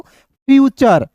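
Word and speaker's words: future: किसी भी वर्ड्स में टी के बाद दोस्तों यू आर ई आएगा तो टी का उच्चारण किसके रूप में होगा दोस्तों च के रूप में।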